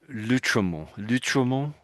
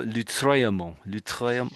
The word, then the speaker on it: Lautréamont: say this name and I was saying lut lut and he was saying no it's more lutra lutra lut probably I'm still not doing it quite right so is I think